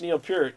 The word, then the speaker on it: Neil Peart: like what they asked neil peart uh from yeah that's actually how you say his name neil peart that's um from